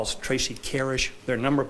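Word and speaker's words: Carisch: a handful of friends and family members M Kish come one up you someone in my name is Tracy Kish and that is spelled t r a c y c a r i s c h Miss carish is there a statement you would like to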